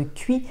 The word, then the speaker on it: qi: te parler de quotient intellectuel mais d'un autre cuit qui se prononce-t-il comme dans chi kong en fait traduit